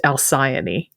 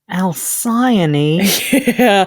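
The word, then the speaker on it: Alcyone: In English, based on how we tend to approach ancient Greek names, it's commonly pronounced Elsaian. Elsaian.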